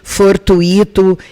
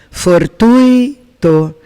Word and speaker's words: fortuito: As mais comuns em concurso é a palavra gratuito, fortuito, intuito, que essa pronúncia que eu fiz agora está com certeza errada. O correto é gratuito, fortuito, intuito.